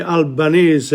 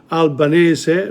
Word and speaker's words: Albanese: people in the media will say Albanese rather than Albanese Albanese easy to say you know the the the actual pronunciation is syllabic in Italian so it shouldn't be